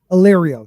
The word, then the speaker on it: Illyrio: Illyrio.